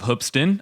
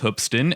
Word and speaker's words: Hoopeston: as hoopston the name hupston comes from the city's love for basketball it's weird it's spelled as hoop but it's pronounced as hup but yeah they take